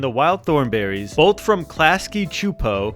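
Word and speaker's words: Klasky Csupo: And in the summer of 2003, the Rugrats and the Wild Thornberries, both from Klasky Chupo, we looked that up, that's how you pronounce it, met up in a full movie called Rugrats Go Wild.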